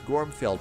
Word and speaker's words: Gormfield: Mustafa has, and I always don't know if I pronounce it right. It's Gormfield, right? That's right.